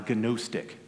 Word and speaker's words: Gnostic: like I'm saying uh Gnostic or gonosticism it's g-n-o-s-t-i-c Gnostic it's a transliterated Greek which is why it's pronounced Gnostic and so the gnostics